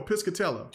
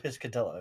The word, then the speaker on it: Piscatella: Matt uh Pisha ptia I forget how you pronounce his name he does no no piscatella or oh piscatella piscatella he showed the stats of high five